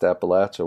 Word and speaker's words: Appalachia: it it sounds beautiful it just happens to be pronounced Appalachia where I'm from I mean it's like